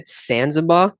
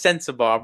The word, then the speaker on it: Sensabaugh: Um I mean, one of the things tell me if I pronounce his name wrong. Brian Sanzaba. Is that how you pronounce his last name? No, Bryce Sensabaugh.